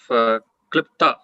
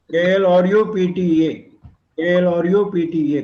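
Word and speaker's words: क्लृप्त: Pronunciation of Klipta from T.R. Srinath. Is it KLRPTHA or KLPTHA? KLR. R is important. Okay. Klipta. KLRU. KLRU. Okay. PTA. KLRU PTA. Klipta. KLRU. All the 4 are important.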